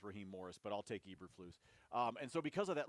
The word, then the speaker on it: Eberflus: Do we pronounce it correctly? Eberflus? Yeah, Eberflus. Matt Eberflus.